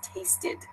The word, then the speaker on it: tasted: unvisited another example is tasted they have that ID sound at the end because it it tasted